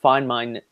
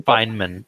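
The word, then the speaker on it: Feynman: knows that a Richard fine mine is I'm not even sure I'm pronouncing that correctly Fineman his name pronounced Fineman Richard Fineman is you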